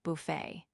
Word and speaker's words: buffet: The name of this cave was the Help-Yourself Buffet. Its habitués, mostly clerks like Crowley, pronounced buffet to rhyme with rough it, which was incorrect but apt.